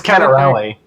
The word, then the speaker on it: Cannarile: How do you say your last name? It's Cannarile. Cannarile.